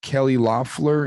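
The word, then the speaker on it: Kelly Loeffler: you're you're shaking your head already he appointed kelly loffler is that how you pronounce her name am i doing am i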